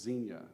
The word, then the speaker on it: xenia: And one of the main concepts is this idea of, I think it's pronounced xenia, and it's just the idea of the cultural value of hospitality.